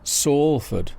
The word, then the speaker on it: Salford: And how is Salford pronounced? Well, S-A-L-F-O-R-D is how it's spelt. The first symbol sounds like the Spanish word for sun, sol, but in fact it refers to the willow tree, or sallow.